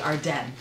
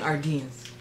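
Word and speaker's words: Ardene: only at our dem i've been pronouncing it wrong the whole time i had no idea that this is actually our den i've been saying our dean's anyways they have a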